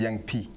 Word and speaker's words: Young P: Okay, first my stage name was Young P.